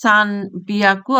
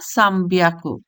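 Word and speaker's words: 三百: এরপর আছে 3 এর সাথে 100 উচ্চারণ হচ্ছে সান বিয়াকু অথবা সাম বিয়াকু।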